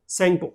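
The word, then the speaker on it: Tsangpo: ठीक है, इसमें टी जो है वो साइलेंट है तो सेंगपो बोलते हैं इसको।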